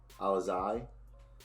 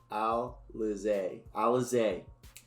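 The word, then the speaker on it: Alize: Durant Sharp, Nicholas Claxton, Elise, Alizai. Someone told me how to say it. Alizé. There you go. Alizé Johnson. That's how you say it.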